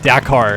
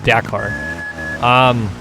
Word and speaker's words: Dakar: Or Dakar, sorry, Dakar. I gotta keep saying it to myself to remind myself, Dakar.